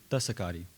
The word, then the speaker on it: Tischakahda: I'm a descendant of Tishakadi. My big sister pronounced his name Desakadi.